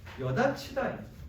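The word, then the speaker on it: 여닫히다: 여다치다예요. 여다치다. 발음이 어떻게 되냐면 여다치다입니다. 왜 이렇게 되느냐? 맨 처음에 여다치다, 즉 거센 소리가 일어났고요. 그 다음에 티읕 더하기 2에서 구개음화인 이렇게.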